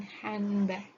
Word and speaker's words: handbag: When the sound, such as a stressless syllable or a weak consonant, is not pronounced, for example, most American English speakers do not pronounce the D in handbag.